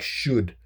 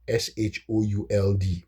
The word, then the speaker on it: should: So for and and a word for instance like should they decided to put an L s h o u l d right should there's no there's no l in the pronunciation of of should.